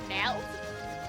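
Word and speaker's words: merde: Meld? Yeah, it... Oh god, how do you spell it again?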